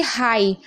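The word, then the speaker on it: high: अब देखिए हाई। हाई में भी आप देख रहे हैं लास्ट में जीएच है तो जीएच को नहीं पढ़ा जा रहा है।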